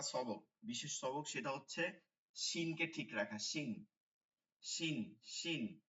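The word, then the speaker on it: ش: জিহ্বার মধ্যভাগটা তালুতে লাগাবেন, এইভাবে লাগবে, এইভাবে, ঠিক আছে? এইভাবে লাগিয়া এই মাঝখান থেকে বাতাস বের হয়ে আসবে।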